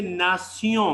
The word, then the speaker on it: nation: But French में ये नासियों हो जाएगा. नासियों, इसका प्रोनाउंसिएशन इस तरह होगा, नासियों. आ रहा समझ में?